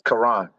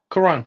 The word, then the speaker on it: Kyrone: The E is silent. It's Kyrone. Kyrone, yes, Kyrone Davis.